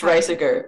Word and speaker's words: Reijseger: by Ernst, I'm probably going to say his name wrong. Oh, yeah. Reijseger? Ernst Reijseger, yeah.